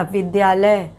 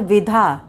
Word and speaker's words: विद्या: और बन जाता है विधा विधार्थी तो इसमें उच्चारण पर ध्यान देना चाहिए कि यहां पर हम विद्या बोल रहे हैं तो इस